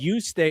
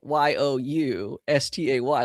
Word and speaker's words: Juste: But you stay is so specific to her. Her handle is even spelled Y O U S T A Y.